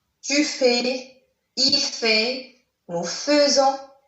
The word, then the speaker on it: faisons: Le verbe faire, je fais, tu fais, il fait, nous faisons, même si vous voyez ici AI, mais ça se prononce E, nous faisons, vous faites, ils, elles font.